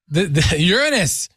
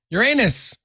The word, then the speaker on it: Uranus: dark backsides of Neptune and you know yeah Uranus Uranus whichever pronunciation you wanna whichever one you want to